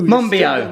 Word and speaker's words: Monbiot: Monbiot.